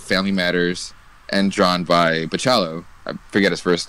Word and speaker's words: Bachalo: Bakula? Okay, I always pronounce it with the hard CH.